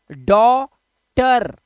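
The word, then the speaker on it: daughter: नटी इसी तरह से डॉ टर टी ई आर टर जी एच को हमें नहीं पढ़ना है इसी तरह से कॉज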